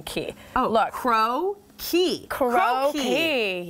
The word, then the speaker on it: crocchi: I want to make, look at this little pronunciation key. Oh, look. Crocchi.